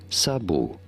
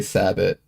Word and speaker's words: sabot: In French, this is said as sabu silent t as is usual in French. Sabu in French and then they say sabot in English. Okay. Okay. Sabot. I pronounce sabotto because it's funny.